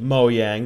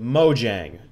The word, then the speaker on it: Mojang: turns out I was wrong so Sweden they pronounce it moang the way I've been pronouncing It in America we're supposed to pronounce it Mojang it's the way I originally pronounced it so